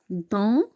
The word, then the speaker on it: dans: Donc, la première phrase, c'est Amina joue dans, on ne prononce pas la lettre S, la cour.